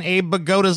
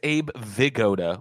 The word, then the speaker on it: Abe Vigoda: That's how you say it in fucking Abe Bagoda's last name. What the fuck? Okay, number one, TJ, it's Abe Vigoda with a V. It's with a B, dude. No, it isn't. Really? It's Abe Vigoda.